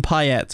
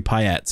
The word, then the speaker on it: Payet: going to be perfect pet though I'm going to stand by it in England he was Demitri payet he wasn't PA even though obviously it should be P all right I'm gonna